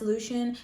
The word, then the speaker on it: Lucian: If she eventually does write a story about Lucian, I know that it's supposed to be pronounced Loo-shen but I refuse his name is Lucian and he's my bae